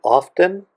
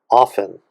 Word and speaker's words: often: people will say often some people will just say often it may depend on where in the world you grew up or something sometimes i pronounce it sometimes i don't but both ways are perfectly fine and here comes the